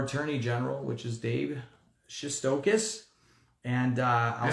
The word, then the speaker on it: Shestokas: a candidate for Attorney General, which is Dave Shestokas. And I'll say it again, Shestokas.